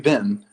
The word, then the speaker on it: been: sentence Where Have You Been rhymes with Sim right yeah it's it's exactly the same word as like trash bin garbage bin trash B uh what